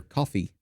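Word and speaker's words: Ko-fi: that uh subscriptions and the Kofi or coffee I guess is what people call it even even though it's spelled Kofi okay I've got the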